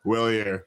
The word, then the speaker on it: Wellier: how do you pronounce that last name? Willier. Willier. There we go. It's not French, trust me.